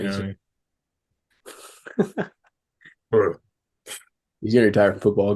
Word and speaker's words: Bru: Brew. He's gonna retire from football, go open up a brewery, and I'll go. It'll be great. Dude, he's got a so it's spelled BRU, but I would be